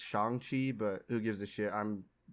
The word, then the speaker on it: Shang-Chi: are trying to do shang chi like uh poses also i'm pronouncing it wrong it's shangqi but who gives a